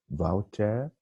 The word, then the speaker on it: Wouter: My name is Wouter. Remember, W is spelled like V, okay, in German.